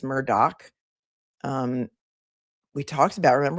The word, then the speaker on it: Murdaugh: It's also Murdoch. A lot of people say Murdo, but it's Murdoch.